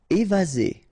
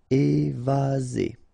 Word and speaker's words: évaser: Évaser. Remember, one S between two vowels. Z. Évaser.